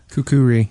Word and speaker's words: kukri: Apparently, it has 3 syllables, and it is not from Australia. It is from Nepal, and it is kukri. Kukuri, yes.